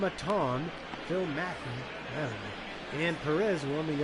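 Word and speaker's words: Maton: so like I said film mattone excuse me I pronounce his name incorrectly earlier film atong Phil Mackey and Perez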